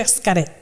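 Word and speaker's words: Xcaret: excavate you're going to escara okay what is it it's got it so they pronounce the x like like sh so it's like uh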